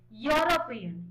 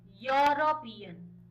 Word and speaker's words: European: देखो European, इसको pronounce करो European, European. यूरोपियन, बहुत लोग इसको यूरोपियन बोलते हैं, तो कैसे आपका साउंड आया, वाई ओ यू, आपका स्पेलिंग तो ई से शुरू हुआ है, वोवेल से, बट आपका साउंड क्या आ रहा है, कॉन्सोनेंट आ रहा है।